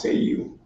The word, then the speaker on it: Seal: For the record, the last name is pronounced seu.